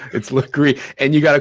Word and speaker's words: Lagree: I just want to say, Laguerre is pronounced Lagree. It took me a full year to do that. I just want to put that out there. She's one of my favorites. It's Lagree, and you got to call her Legs.